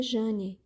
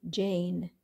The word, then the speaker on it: Jan: o meu nome é Jan algumas pessoas ao invés de me chamar de Jan me chamam de Jane pronúncia Americana ou me apelido de